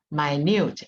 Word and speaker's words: minute: deep sorrow than a minute here this that's not pronounced as a minute because minute means 60 seconds but here means uh an adjective minute means very trivial very small very detailed so in performing a